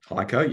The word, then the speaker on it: HEICO: Is that how you pronounce it? HEICO, yep.